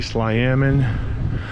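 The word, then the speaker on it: Tla'amin: is the salomon nation uh some would say sly amen um but it's pronounced lamin as you can see but uh yeah this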